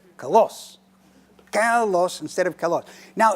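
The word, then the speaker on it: κάλλος: 2 lambdas and the accent on the first syllable. So when I speak it, I'm going to say kalos instead of kalos.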